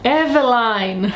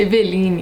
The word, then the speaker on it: Eveline: Eu disse Eveline, mas na verdade é Eveline.